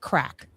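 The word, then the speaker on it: craic: But I have some actual Irish terms, and this word is pronounced crack.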